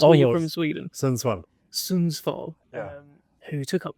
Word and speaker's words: Sundsvall: So just a kid from Saulsville, if I said that right? How do I pronounce where you're from in Sweden? Sundsvall.